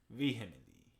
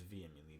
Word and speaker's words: vehemently: I disagree vehemently. It is vehemently, but it's spelled with H.